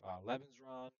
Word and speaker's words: Lebensraum: Lebensraum, I believe is how it's pronounced, is the term for like living space.